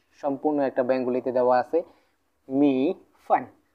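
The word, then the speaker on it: 米饭: আমরা করব কেমন করে, ছোট ছোট করে আমরা নিয়ে একসাথে উচ্চারণ করব।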